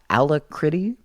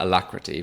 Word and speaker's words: Alacritty: from Daniel here uh ala critty I don't know if I said that right I pronounce it alacrity but I uh I